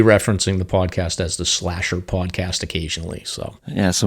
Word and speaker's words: SLASR: an acronym, which is SLASR, which is SLASR. So SLASR for Sounds Like a Search and Rescue, right? That's how it's spelled, yeah, but it sounds like slasher.